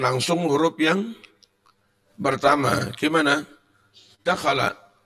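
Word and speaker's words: دخل: Kalimah itu kalau 3 huruf, itu membacanya huruf pertama langsung ditekan, biar enggak keliru. Qira'ah ini 3 huruf, kharaja 3 huruf, bacanya langsung qira'ah, kharaja, dakhala.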